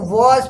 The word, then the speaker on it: was: देखे प्रोनाउंसिएशन इसका देख ले, इसको वॉज पढ़ते हैं, वाज नहीं पढ़ते हैं। कितने लोग वाज पढ़ देते हैं, एक तो ये हुआ।